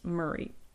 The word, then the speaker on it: Mary: did strike me that Mary would be pronounced Marie so anyway just a